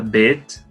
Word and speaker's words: Bet: Em seguida nós temos a letra Bet, que é um som de B, e como vocês podem ver, aqui nós temos embaixo letras que recebem dagesh.